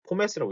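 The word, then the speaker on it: Pommes: 포메스라고 하기도 하고 폼메스라고 있는데 이걸 그냥 폼 하지 않는다는 거. 자, 포메스라고 있습니다. 포메스. 이때는 독일어처럼 읽어요. 포메스라고.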